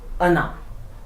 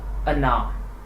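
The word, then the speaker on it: она: And whereas if we talk about the another word ana, there the stress falls on the last vowel a. That is why O is unstressed and pronounced as ana, not ona but ana.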